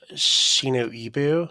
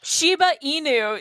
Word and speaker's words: Shiba Inu: They're like a Shino Ibu. Is that how you say it? Shiba Inu.